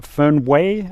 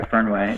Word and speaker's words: Fernweh: He is the original Fernweh. Am I saying that correctly? I've been saying it wrong, I think, all these years. Yeah. No, that's right. Fernweh.